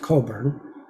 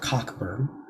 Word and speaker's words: Cockburn: Alistair Coburn, it's pronounced Coburn. He doesn't like to be called Cockburn.